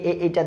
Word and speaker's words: A: সো এ এইটা দেখে আমরা সাধারণত সঠিক উচ্চারণগুলি জেনে থাকি। এখানে প্রথমে যেটা দেওয়া আছে সেটা হচ্ছে আমরা বলি এ। This is নট এ। এটা হচ্ছে এই।